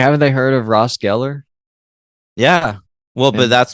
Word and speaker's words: Geller: this one oh me too Sarah yeah Michelle Geller gallar I hate when people do that what